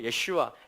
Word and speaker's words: 예슈아: 얻게 될 것입니다 그래서 우리의 슈와 예수 하라는 것은 예수의 원래 발음 이에요 우리 주님의 원래 발음입니다 기분이 말로 예 슈와 요 신의 예 슈와